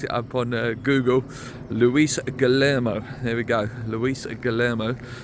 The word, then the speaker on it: Guilherme: tweet saying that, and this is how you pronounce it apparently, I looked it up on Google, Luis Guillermo, there we go, Luis Guillermo, or Guilherme, is very, very close now.